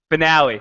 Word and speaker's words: finale: yeah that was incredible it is pronounced finale finale oh sorry I've been pronouncing that wrong sons of anarchy finale yeah